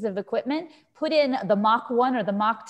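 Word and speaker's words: Mock 1: production system called the mach 1. we named it the mach 1 because it's spelled m-o-c-k so it makes mock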